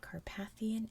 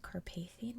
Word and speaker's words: Carpathian: where you are in the English-speaking world, it's pronounced differently. So I've heard Carpathian and Carpathian mountains, but I've always said Carpathian mountains.